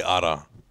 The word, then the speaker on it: Ara: I always say Ara, if you Ara. Can roll the R, yeah. Yeah. Ara.